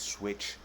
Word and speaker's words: PSwitch: direct link website is switch dot nycp switch dot NYC because that p is silent if you're into apparel